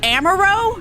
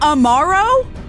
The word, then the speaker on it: Amaro: I'm sorry, it's pronounced Amaro, not Amaro?